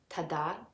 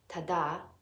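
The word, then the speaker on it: tadā: There are two kinds of letter A in this word. By default, the letter A is pronounced but when it has that flat accent mark over it, it becomes ah. So this word is pronounced tada, tada, tada.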